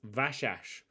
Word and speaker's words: Vasas: the first episode uh says that it's pronounced vashash so i'm gonna try ovashash of it's soft s's so i'm gonna try